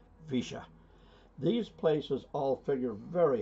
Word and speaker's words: Villa: Incidentally, Villa in Spanish is normally pronounced Villa, but not in Argentina. It's pronounced Villa.